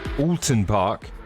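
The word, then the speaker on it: Oulton Park: you that don't know alton park as it's correctly pronounced looks like this it's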